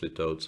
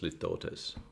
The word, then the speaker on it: litotes: use it and also I've mispronounced litotes apparently it's lift Otis but I was correct